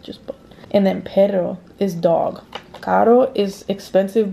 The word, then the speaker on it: perro: wave once enzo um if there's an r it's pronounced like you use your tongue to hit like the roof of your mouth like for example pero means but but perro pero i don't want to